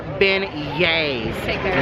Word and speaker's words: beignets: in the comments section correcting us saying it's pronounced beignets we know that thank you I will say